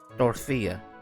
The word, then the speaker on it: Dorothea: Dorothea.